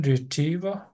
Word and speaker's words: retrieval: Cái chữ y ngắn với chữ y á. IE này nè nó có xu hướng kéo dài ra.